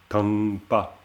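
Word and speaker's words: thang pa: Ici, c'est pas préfixé, ce qui fait qu'on peut plutôt prononcer tangpa, tangpa. Hein, c'est un ta avec un expiré bas, ce qui est un peu compliqué pour nous, évidemment, mais si on peut, c'est bien.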